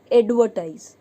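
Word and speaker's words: advertise: देखिए यहाँ पे मैंने आपको बताया एडवर्टाइज, और आर की आवाज़ नहीं आएगी, एडवर्टाइज, एडवर्टाइज। तो आर साइलेंट रहता है और ए की आवाज़ आती है, एडवर्टाइज।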